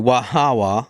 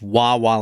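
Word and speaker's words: Waʻawaʻa: Tonight we're going to Wahawa. And no, Jen, it's not pronounced Wawa like the gas station.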